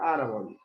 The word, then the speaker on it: árbol: ahora es la palabra árbol. Velázquez, ¿cuántas sílabas tiene la palabra árbol? ¿Ah? Dos sílabas, ¿no? ¿Cuáles son? Pregunta Velázquez, ¿dónde tiene la fuerza de voz? ¿En ar o en bol? En ar, ¿no?